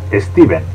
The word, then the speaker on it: Stephen: steven king stephen king aunque se escribe con ph su nombre se pronuncia steven punto es como cuando